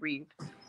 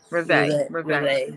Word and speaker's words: Reveille: I was pronouncing it Reeve. Reveille.